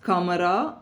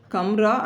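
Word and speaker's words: कमरा: ஸோ அப்போ காம் அப்படின்னா கமல், அது ரெண்டுலேயும் வந்து இருக்கிறது வந்து not pronounce when it occurs medially, such as kamara, room, bolna, to say. The actual pronunciation of these words stand as kamra and bolna, but it is audible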